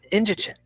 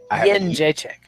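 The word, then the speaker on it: Jędrzejczyk: Jedrzejczyk. Is that not? No, Jedrzejczyk. Jedrzejczyk. Yen. Like I have a yen. Jedrzejczyk. Yeah, correct. Fuck that. I can't even hear the difference. Jedrzejczyk.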